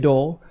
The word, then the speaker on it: Doel: now unsurprisingly your man david dole no david dole spelled d-o-e-l not d-u-l-l although we know he is dole okay we understand that